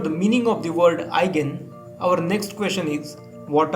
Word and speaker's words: eigen: get started what is this word with letters e i g e n it is pronounced as eigen have you ever wondered about